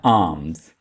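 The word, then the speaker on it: alms: खैरात को इंग्लिश में कहा जाता है आर्म्स। आर्म्स। यहाँ पे एल को हाईलाइट किया गया है तो एल यहाँ पे आपने नहीं पढ़ना है, एल को साइलेंट रखेंगे।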